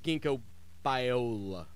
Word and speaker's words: ginkgo biloba: Low college football, though, that's what people tune in to hear, not me trying to pronounce ginkgo biloba.